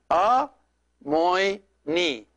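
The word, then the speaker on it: ⲁⲙⲱⲓⲛⲓ: It's three syllables. And then these three together these three letters together. This is a long O, and this is iota. So since it is coming immediately after a vowel, it's going to pronounce like a Y. So it is a, moi, and then here ni. So it is a, moi, ni.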